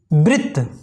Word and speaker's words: वृत्त: इसी प्रकार री की मात्रा देखते हैं, जैसे वृत्त। वृत्त, ये देखिए जो री की मात्रा है ये वृत्त, यानी कि वाह बढ़ के नीचे लगी है।